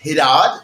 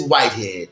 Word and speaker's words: Whitehead: I'm thinking it's like, now it's spelled Whitehead. I'm trying to go with it Hidad or something. I'm thinking it's like Arab or something. Nope, he said, nope, it is Whitehead. Yep, it's exactly as it sounds.